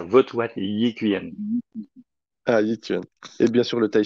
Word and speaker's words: Yi Quan: Alors, dis-moi si je le prononce mal. Bon Le courage. Votoit Yi Quan. C'est ça, vote what Yi Quan. Ah, Yi Quan.